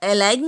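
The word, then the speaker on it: align: जी तब साइलेंट होता है जब कभी भी जी एन से पहले आता है, जैसे कि है अलाइन। यहाँ पर अलाइन नहीं पढ़ेंगे, अलाइन।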